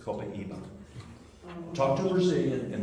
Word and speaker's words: Copaiba: Copiaba, is that correct? Copiaba? Some people pronounce it Copaiba. Brazilians pronounce it Copaiba.